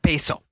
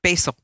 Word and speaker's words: basil: Basil. How do you say it? Basil. Basil. Not basil. Basil. Basil.